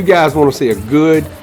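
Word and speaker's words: Geaux: He don't spell it normal. He's from Louisiana. They spell go a little different. G-E-A-U-X.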